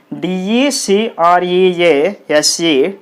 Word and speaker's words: decrease: are two syllables and moreover in this word you can find the prefix d e if the e is there the stress will be on the second syllable so what is the second syllable here d is the first syllable crease is the second syllable so you put the stress mark on the syllable crease decrease like this okay next word